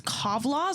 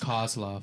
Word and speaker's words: Kozlov: Is this Kovlov or Kozlov? Kozlov. Kozlov. With a Z.